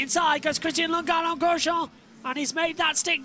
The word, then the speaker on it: Grosjean: That's Lundgaard trying to throw it on the inside of Romain Grosjean down into turn 1. And I am saying it correctly. It's Grosjean.